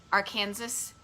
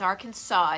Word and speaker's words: Arkansas: or not but that you could get a fine if you mispronounce arkansas like kansas arkansas which is how my brain pronounces it when i read it but it's arkansas it's it's based on an indian name um so yeah so